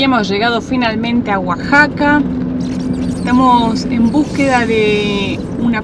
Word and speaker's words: Oaxaca: pensé que se decía Oaxaca, porque se escribe con X. Pero bueno, acá la X en este caso se pronuncia como una J. Y hemos llegado finalmente a Oaxaca.